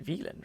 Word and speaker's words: Wieland: was Wyland well villain it's like German pronunciation veland right when you say it's An American Tale so he was saying so do we want to say Wyland then how do we